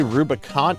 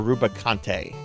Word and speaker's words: Rubicante: Do Do you guys say Rubicant or Rubicante? How many of you pronounce the E in Rubicante's name?